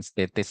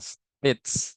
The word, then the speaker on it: states: Jadi bukan statis ya, states bacanya states bukan statis.